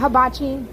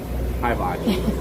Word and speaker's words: hibachi: Not habachi. Hibachi.